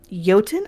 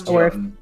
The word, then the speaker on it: Jotun: I don't know if you pronounce the J as a J in Galarian or not. I think it's Jotun. I do think it's Jotun. I think from it's. I would say with Jotun, it doesn't matter. There's no correct way, but given the origins linguistically, I think it's a Y.